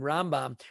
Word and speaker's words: Rambam: when you hear them the convention is that when we want to say maimonides name rambam we accent it on the first syllable rambam and when we want to say nakhmani's name we accident on the second syllable ramban so there's the rambam